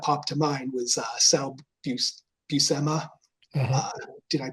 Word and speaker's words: Buscema: Like the first person that popped to mind was Sal Buscema. Uh-huh. Uh, did I pronounce his last name correctly? It's Buscema, I believe.